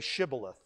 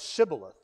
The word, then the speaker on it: shibboleth: death sentence then they said unto him say shibboleth say shibboleth but what he actually ended up saying was sybileth for he could not frame to pronounce it